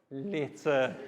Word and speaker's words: litter: Not letter, litter.